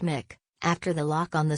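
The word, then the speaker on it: Muick: Balmoral is very close to the Queen's heart, with her naming her newest corgi Mick, pronounced Mick, after the loch on the Scottish.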